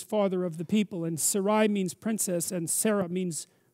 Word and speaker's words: Sarai: how to say that Sarai Sarai it's SAR to begin with yes is that right Sarai